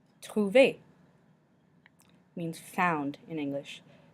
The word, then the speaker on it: trouver: E with an accent aigu and ET make the sound A in English. A. Déca means decaf, as in decaf coffee. Déca. Trouver means found in English. Trouver.